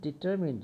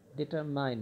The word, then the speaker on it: determined: তো তিনি ডিটারমিন্ড ছিলেন, ডিটারমাইন্ড না, তোমরা ডিটারমাইন্ড উচ্চারণ করো, ডিটারমিন্ড।